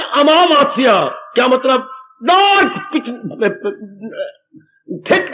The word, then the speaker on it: अमावस्या: शब्द अमावस्या है। आ मां के बाद फिर आ की मात्रा, वाह के बाद फिर आ की मात्रा, आधा सा या आ की मात्रा, अमावस्या।